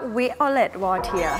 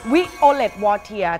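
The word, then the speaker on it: Violette Wautier: ชื่อ V จริง ๆ อ่าน ว่า อ่าน ว่า Violet War ค่ะ Violet War ถ้า เป็น สำเนียง ฝรั่งเศส แบบ เลย Violet Wood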